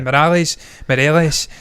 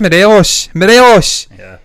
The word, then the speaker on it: Morelos: that but within scotland they can never pronounce a guy's name and it's the most simple name on there alfredo morelos they say morales it's just morelos did you not go